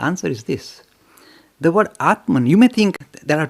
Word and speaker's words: Atma: The word Atman, you may think there are two words we need to kind of distinguish. One is Atman, that is, Atma is the right pronunciation.